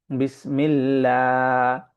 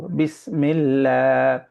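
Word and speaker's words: بسم الله: তখন এটাকে আমরা পড়ব বিসমিল্লাহ। মুখটাকে ফাঁকা করে পড়ব। মুখটাকে ভর্তি করে পড়বো না। ফাঁকা করে পড়ব। বিসমিল্লাহ।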